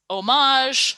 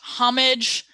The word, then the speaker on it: Homage: the world and so whether it's homage homage home age jillian doesn't particularly care as long as you